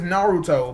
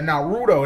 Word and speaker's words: Naruto: call um yes Nar his name is Naruto but someone call think Naruto yeah narudo that's what people started calling him I'm like no that's